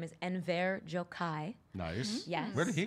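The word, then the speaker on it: Enver Gjokaj: His name is Enver Jokai.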